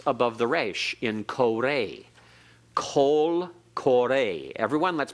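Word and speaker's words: קוֹל קוֹרֵא: Kol kore. Everyone, let's pronounce this together. Kol kore.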